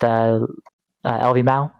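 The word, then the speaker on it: LvMao: I had it as is it pronounced LV Mao? How do you say that? Lumao? Lumao. Lumao is how you say it.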